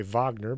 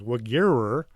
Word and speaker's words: Wegerer: An Austrian engineer named Ernst Wegerer, I was going to say Wagner, but no, it's Wegerer. The Germans pronounced their W as a V and the V as a W.